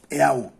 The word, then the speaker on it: eau: O sea, eau, que se pronuncia eau en francés, significa agua.